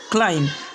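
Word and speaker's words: climb: यानी इसे हमें लिम्ब नहीं पढ़ना है, कॉम्ब नहीं पढ़ना है, टॉम्ब नहीं पढ़ना है, बॉम्ब नहीं पढ़ना है, बल्कि लिम, कॉम, टॉम, बॉम्ब, थम, क्लाइम, इस तरह से इसे प्रोनाउंस करना है।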